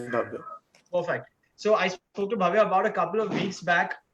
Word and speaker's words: Bhavye: I'm pronouncing the name right? It's Bhavya only, right? Yeah, it's Bhavya.